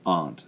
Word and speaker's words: aunt: like aunt and uncle the Americans say aunt the British say aunt so don't be confused about that well that's a one